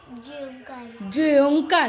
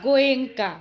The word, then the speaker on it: গোয়েঙ্কা: জয়ঙ্কা না, গোয়েঙ্কা। গোয়েঙ্কায় তো আমরা করিনি বাবা তোমাকে। গোয়েঙ্কায় করিনি তো। তো অন্য স্কুলে। হুম, না না, ওটাও বড় স্কুল। আগে উচ্চারণটা তো ঠিক করে কর। গোয়েঙ্কাকে বলছিস জোয়েঙ্কা।